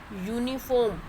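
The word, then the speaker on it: uniform: यूनिफॉर्म. ये हमें ये नहीं देखना कि अल्फ़ाबेट यू है, हमें इसकी साउंड देखनी है. इसकी साउंड है यू. यूनिफॉर्म.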